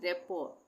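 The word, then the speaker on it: rapport: गरमे इसी तरह से ये है रेपोर। इसको हम पढ़ेंगे रेपोर। इसमें भी टी साइलेंट हो जाएगा।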